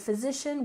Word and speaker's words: physician: in primary primary and physician we stress the second syllable physician physician in other words this